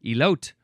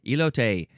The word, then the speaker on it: elote: I would have said elote because that's how it's spelled in English. That's how it would be pronounced in English. But this is a Spanish word, elote.